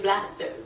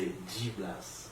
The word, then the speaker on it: G-Blast: On dit DJ Blaster. Dans le fond, c'est G-Blast. G-Blast? Ouais. Oh my god, Parce quel que- apprend un nom? Comment on Non, dit ça? c'est facile, c'est G-Blast.